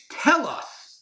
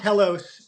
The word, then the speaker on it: Telos: Um, but I want to promote first of all it is tell us. Is that how we're pronouncing it? Yeah. Yeah. Yeah. Tell us. Te loos uh news. It's Ryan Substack, not Telos, but yeah.